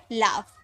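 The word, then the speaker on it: laugh: एल ए यू जी एच तो जी H last में है तो इसे फ में प्रोनाउंस किए तो हो गया लाफ।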